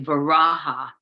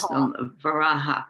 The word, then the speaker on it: Varaha: First of all, we say Varaha. That's how you pronounce Varaha.